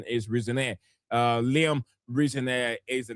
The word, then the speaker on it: Rosenior: Rosen Rosen Roseno, but reports saying that the real pronunciation is Rezaneire.